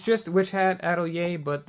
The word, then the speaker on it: Atelier: Witch Hat Atelier, that's how I was told to pronounce it. It might be Atelier, but I was told to say Atelier.